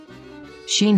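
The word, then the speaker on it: שׁ: know these final letters sheen sheen has the sh sound of shu sho shai or sheep sheen has a dot on the top right side scene has the sound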